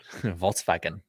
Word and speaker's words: Volkswagen: Well, that at least sounds German. Volkswagen. Especially when you say it like that. Well, that's how you're supposed to say it.